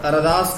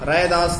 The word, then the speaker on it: रैदास: ऐसे इनके नाम का उच्चारण में भिन्नता जगह जगह प्रकट होता है। लोक प्रचलन और सुविधा की दृष्टि से उनका मूल नाम रैदास ही स्वीकार किया गया। मूल नाम उनका रैदास ही है।